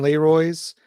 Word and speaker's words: Leroy: You've only just recently announced Catherine Leroy's works from the 60s, from Vietnam. One-way ticket to Vietnam. I'm pretty sure her name is pronounced Leroy, and just in case